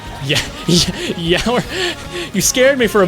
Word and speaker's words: Yore: Yore, but pronounced like hour. Yeah, yower.